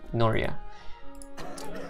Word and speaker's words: Nuria: little boy rod no no no Nuria Jesus I've been pronouncing it wrong this entire time Nuria the hospital for that healthcare mm-hmm